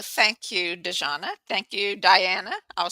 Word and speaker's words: Dajana: I know it's like the genre, but it's the Croatian way of saying Diana, and it's the reason